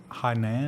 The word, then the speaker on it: Hainan: block you it'll block your connections this is Hainan anything and on that's how you pronounce that but it's a basically a beautiful